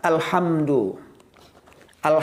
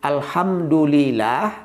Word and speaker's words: Alhamdulillah: ada nama setan dulillah Bagaimana penyebutan yang salah tidak memakai tasydid yang benar itu Alhamdulillah kalau kita membacanya tidak menggunakan tasbih Alhamdulillah itu nama setan kita Memanggil nama setan namanya dulillah atau singkatnya dulil jadi harus pakai tasdid Alhamdulillah ketika kita membacanya Alhamdulillah